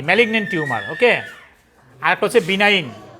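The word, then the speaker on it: benign: বা cancer বিনাইন মানে শব্দের উচ্চারণ হবে কি বিনাইন যারা পারেন না উচ্চারণ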